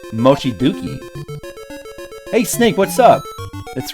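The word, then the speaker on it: 望月: Oh, it's spelled Dookie, not Zuki. Mochiduki.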